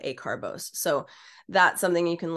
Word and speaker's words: acarbose: I've heard people pronounce it acarbose, but I was taught acarbose.